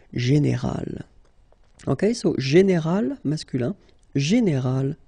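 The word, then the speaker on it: générale: But then phonetically it's quite interesting because you don't make any difference. You will get so général at the masculine form, and it will be exactly the same thing at the feminine form, général.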